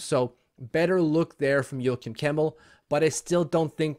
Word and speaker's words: Joakim Kemell: How do you pronounce his name? Joakim Kemell. There we go. Joakim Kemell.